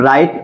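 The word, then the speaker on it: write: भी जान लेंगे हम तो जब किसी वर्ड में डब्लू के बाद आ र आ है तो डब्लू क्या होता है हमारा साइलेंट होता है जैसे एग्जांपल में डब्लू आर आई टीई ठीक इसको क्या पढ़ेंगे आप राइट पढ़ेंगे राइट मीस क्या होता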